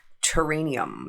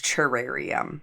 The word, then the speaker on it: terrarium: and that's how we terranium terrarium terrarium it's terrarium I knew I was saying it wrong what's wrong with my